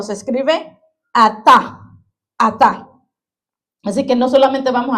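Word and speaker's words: עתה: En el hebreo dice que se se dice o se escribe ata.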